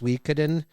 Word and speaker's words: Suikoden: It claims it's pronounced Suikoden. It's Suikoden.